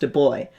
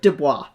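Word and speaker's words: Du Bois: thing talking about, oh, his name was pronounced D boy. And I was going, oh, okay, D boy, do boy. And what do I do? Dubois. Dubois sounds fancy and D boy sounds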